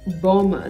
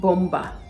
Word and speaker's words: bomber: a very sad situation happened in Nigeria say Boma not bomba bomb not bomb succumb not succumb succumb he